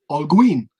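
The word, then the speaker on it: Holguín: no no it's h-o-l-g-u-i-n all green because it's h-g-u-i-n because no there's no if you have gui it's gin okay um i mean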